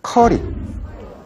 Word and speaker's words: 커리: 여러분들 카레 드시잖아요 카레네 카레가 원래 이름은요 커리 오 뭐 발음이 어디서 curry 커리 근데 거기에는 강황 성분이